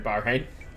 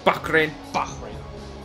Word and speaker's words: Bahrain: hoping to put on a podium here in bar hey you gotta pronounce it right way we come on King Bach Rin oh yeah the f om intro so much